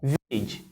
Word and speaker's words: village: Then when you have a word ending with AGE, you have a word ending with AGE. The letter A there produces the E sound. Village, baggage, mortgage.